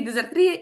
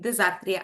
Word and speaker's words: дизартрія: міг сказати правду що правильно казати і дизартрія і дизартрія а Олена пояснить чому залежно від того яким ви послуговуєтеся джерелом Скажімо так тому що якщо ви використовуєте цей термін із англомовної літератури то наголос буде падати саме на другий склад і це буде в